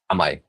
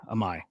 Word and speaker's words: AMAI: AMAI, is that how you pronounce it? AMAI. Yes. AMAI.